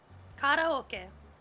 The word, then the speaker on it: karaoke: you guys didn't know karoke is actually a Japanese word and it's not pronounced karaoke it's karaoke so let's take a